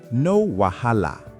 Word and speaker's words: no wahala: Pronunciation, no wahala. 4 syllables.